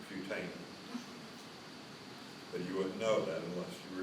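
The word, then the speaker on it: putamen: the Pam and you got them all right mispronounced pamin it's putan you wouldn't know that unless you were here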